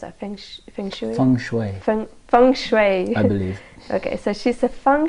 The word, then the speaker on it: feng shui: around the mansion and she said she said Feng Shui experts feng shui expert how do you pronounce our friendship song Shui from Fung Shui okay so she's a Fung Shui expert so